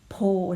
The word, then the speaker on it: โพธิ์: จึง ไม่ ออก เสียง มัน ออก เสียง แค่ โพธิ์ เท่า นั้น ฮะ อ่ะ อีก ต่อ ไป คำ